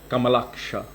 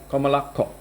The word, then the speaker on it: Kamalaksha: would pronounce it like Kamalaksha. Means aksha means eyes, and Kamala means lotus. But if you were reading that as a Bengali, you would say Kamalakko, like that.